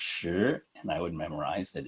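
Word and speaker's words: 十: learn this character I would memorize that it's pronounced sure and I would memorize that it means 10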